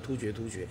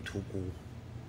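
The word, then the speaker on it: 突厥: 人之后，大家都习惯念突厥，其实告诉各位，那个正确的读音应该念突孤。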